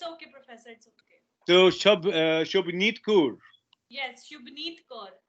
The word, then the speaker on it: Shubneet: So the H is silent. Yeah. Yeah, but it's have a like whole vocal of H in my name. It's maybe Shubneet Kaur. Okay. Yeah, Okay. yeah. Okay. So it is half silent.